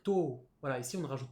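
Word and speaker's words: 十: Et 10, on va simplement dire to.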